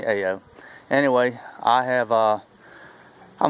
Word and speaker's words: Ayo: live close to Mississippi if you from south Louisiana it's uh-oh my last name is spelled a why oh I live close to Mississippi state line so I'm used to being called a Oh anyway I have a